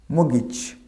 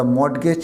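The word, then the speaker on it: mortgage: মগিজ, এর উচ্চারণটা আমরা কী বলবো? মগিজ, নট দ্য মর্টগেজ।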